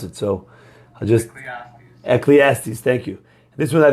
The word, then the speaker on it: Ecclesiastes: Excellistes, but I don't know how to pronounce it, so I'll just... Ecclesiastes, thank you.